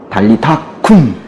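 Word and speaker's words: talitha koum: 뭐라고 그러셨냐면, 죽어있는 그 소녀에게 달리타쿰! 그러셨어요. 달리다굼이라고 썼는데 원래 발음이 약간 조금 세거든요.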